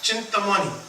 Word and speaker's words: Chintamani: We say Chintamani, but Chintamani. Right? Chintamani is proper pronunciation, but Chintamani means whatever you contemplate, like a jewel, that Nam will reveal so many things.